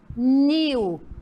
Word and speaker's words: pernil: pronúncia mais forte então aqui ó pernil não é aonde ficou a sílaba mais forte no New então a sílaba tônica da palavra pernil é New Olha que legal né